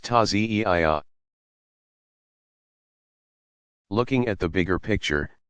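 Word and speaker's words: تعزية: In more traditional Shia villages, people still gather to reenact the events in a passion play called the Taziyah, pronounced Taziyah.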